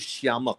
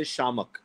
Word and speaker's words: Shiamak: mother always said that the word is Shiamak. But no one calls you Shiamak. They say Shamak. Yeah. Because I want the I to be silent. That's true. Yeah. So the I is silent.